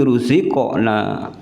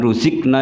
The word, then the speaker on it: رزقنا: Ini contoh qalu hadzal ladzi ruziqna. Jangan ruzikna ya. Kalau ruzikna berarti pakai kaf. Ini kebanyakan ya banyak yang salah. Jadi ruzikna bukan ruzikna tapi ruziqna.